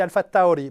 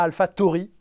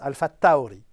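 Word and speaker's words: AlphaTauri: fois les gens disent pourquoi tu dis alpha Taouri bah parce que c'est comme ça que ça se prononce on dit pas alpha Tori ça ne se prononce pas alpha Tori ça se prononce alpha Taouri j'avais bien demandé la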